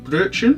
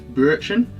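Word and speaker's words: Brötchen: the fish virtue mm-hmm because the two dots over that Oh make it like an earth as opposed to an O think I said it wrong in the first video we found out from a gentleman friend it's brew action sound in German so we had one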